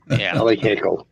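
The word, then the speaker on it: Haeckel: It's actually pronounced Hercules. Mike Hercules. Heckle heckle.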